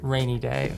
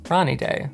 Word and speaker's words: Ranidae: impression review of the Wilding rainy day or as it's probably pronounced in deand Ronnie day so I've been waiting